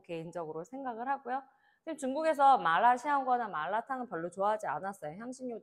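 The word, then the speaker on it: 麻辣香锅: 자, 대표적인 음식 마라샹궈, 마라샹궈로 우리가 알려져 있는 마라샹궈, 중국 발음은 마라샹궈이고요.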